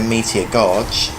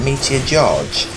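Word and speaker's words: Meteor Gorge: those meteor gosh and it is actually meteor gosh for the longest time I've been pronounced that meteor George and I've always known it as meteor George itself I've been reading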